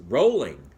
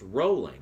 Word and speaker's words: Rowling: that is entirely wrong it's actually pronounced rolling like row row row your boat and I cannot believe